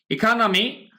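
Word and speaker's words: economy: ইকোনমি, ইকোনমি মানে কি? ইকোনমি, ইকোনমি মানে হচ্ছে অর্থনীতি। ইকোনমি বলা হয় ইকোনমি, এখানে ইকোনমি এই যে এটা আকারের মতো উচ্চারণ হবে, ইকোনমি আমাদের অর্থনীতিতে।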